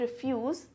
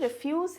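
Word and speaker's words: refuse: तो स्टूडेंट्स, ये जो रिफ्यूज़ है, सबसे पहले तो इसका प्रोनाउंसिएशन जो है वो भी सेम नहीं है. ये है रिफ्यूज़ और ये है रेफ्यूज़.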